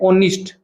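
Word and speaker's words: honest: ओ silent है। उसको हम बोलते नहीं है। इसको बोलते हैं ओनिस्ट।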